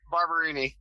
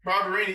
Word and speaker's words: Barberini: So how's it pronounced? Barberini. Barberini.